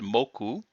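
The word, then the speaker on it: 目: In fact, it's pronounced moku, and you'll see that in other words.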